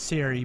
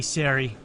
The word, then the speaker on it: Ceri: to count him down I believe it's pronounced Siri but it's okay you